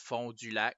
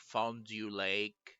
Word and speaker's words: Fond du Lac: There's a place that should be pronounced Fond du Lac, but it's like Fondue Lake.